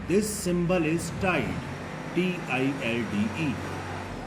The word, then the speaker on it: tilde: This symbol is tilde, T-I-L-D-E. Here L is silent, so this is tilde.